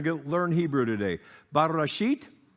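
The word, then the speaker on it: בראשית: get learn Hebrew today bashit okay now remember you got to you got to get a little South of the Border and roll that R all right not bad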